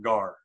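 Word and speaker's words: γάρ: form and the transliterated if you wanted to try to pronounce that how would you pronounce it you transl pronounce that gar or you can listen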